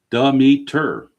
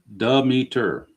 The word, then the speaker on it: Demeter: Sounds like duh, followed by me, Demeter. So you're saying it's Demeter.